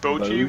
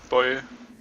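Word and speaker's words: Boje: It's spelled B-O-J-E. And Boji would be, or Boji would be the typical way to pronounce it. But it's actually Boy.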